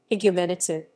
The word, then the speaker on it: Igoumenitsa: greek pronunciation higumenitse is a coastal city